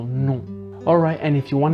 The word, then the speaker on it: non: It's non. So there's a slightly nasal N at the end, so non.